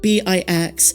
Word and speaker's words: Bix: hoeness character is bex b-i-x they're unsure of the pronunciation but they believe it's pronounced like kicks but with a b so bix bespins say they're not